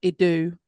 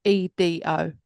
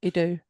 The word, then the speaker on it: Edo: Long ago, in the streets of old Idu, I don't know if that's how you pronounce it, and I apologise. Here it is, Edo. Edo? Edo? Just choose one and run with it.